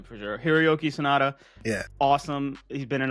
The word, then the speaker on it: Sanada: Hiroyuki Sanada.